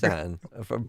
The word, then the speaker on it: Isaan: it's Isaan, but I only knew that because I've listened to the song and he pronounces it in the song. So, but Isaan, anyway, yeah, okay.